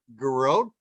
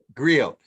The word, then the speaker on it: griot: But she describes herself as a garrote, and am I saying it correctly? Garrote? You're muted. She said griot by bloodline and lineage.